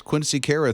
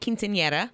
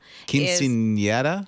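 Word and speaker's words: quinceañera: Kara I love that I can't pronounce it I don't know how to pronounce it I actually called my daughter last night and I was like let's make sure I can say it Quinceanera Quinceanera right it's a girl's 15th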